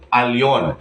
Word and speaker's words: Elyon: itinatama po natin yung mali na Nakasanayan Nasanay na po ang marami na akala is ang pagbikas dito ay L ito ay Elon mali po ang tamang pagbigkas ay Al alon so ang idadagdag natin